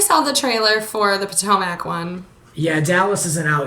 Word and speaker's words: Potomac: I just watched the trailer for the new Housewives of Potomac.